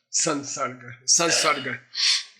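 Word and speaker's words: saṃsarga: By itself, sam. When in combination with s, it changes to san. The pronunciation changes to sun. Sun sarga.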